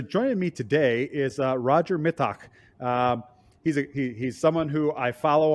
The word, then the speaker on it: Mittag: Yeah, I am Roger Mittag, and Rob pronounced it Mittag, which is the German pronunciation, which I like.